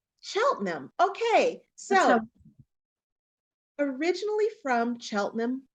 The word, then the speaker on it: Cheltenham: it's better okay all right Sally can you pronounce where the the city in England where you are originally from yeah it's called Cheltenham Cheltenham Okay so originally from Cheltenham England Sally Spurgeon